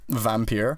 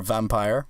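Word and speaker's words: Vampyr: wanted to buy say Vampir or vampire however you want to pronounce that a game that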